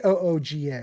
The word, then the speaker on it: Kooga: it Cooga? K. Kooga. So it's not even spelled like you would expect a cougar with a C to be.